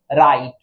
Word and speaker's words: right: हो जाता है, मुख हो जाता है, यानी साइलेंट हो जाता है। तो देखिए क्या पढ़ते हैं, RIT, राइट, रा इट, आई के लिए।